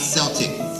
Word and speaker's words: Celtic: We're talking about the Celtic heroes, and yes, that's pronounced Celtic and not Celtic.